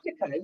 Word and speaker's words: Plectica: Is that how you pronounce it? Plectica, yeah.